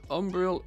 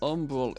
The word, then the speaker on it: Umbral: No, Umbreal ink does not. Umbral ink, because it's spelled different.